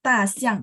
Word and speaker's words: 大象: Terus kalau ta xiang D itu bacanya nggak pakai H, jadi bersih.